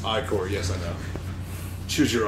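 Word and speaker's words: Ichor: it with magic like or that's pronounced iCore yes I know choose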